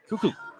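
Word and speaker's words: Kukuk: I know, and it's not really the proper spelling for that. I mean, I guess it is. That's the pronunciation of the last name. K-U-K-U-K. Cuckoo.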